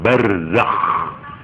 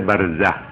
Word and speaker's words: برزخ: Z, zai, kho. Harus ngoro. Nek moco ngoro. Barzakh. Nah, harus begitu. Supaya kelihatan kho. Nggak boleh barzah. Kalau barzah itu hak. Nah, ini hanya sekedar ya. Barzakh itu artinya alam pemisah.